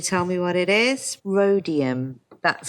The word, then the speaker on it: rhodium: me what it is rhodium that's correct don't pronounce the h now we've got phosphorus